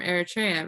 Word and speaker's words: Eritrea: families in our parish that are also from Eritrea, right? That's right. And how do you pronounce it?